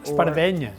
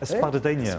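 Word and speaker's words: espardenya: Espadrille is how we pronounce it in America, but in Catalan, do they say espadrilla? Espardeña. Espadanya.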